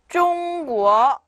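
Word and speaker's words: 中国: 다음에 中国 네, 중국이란 뜻이에요.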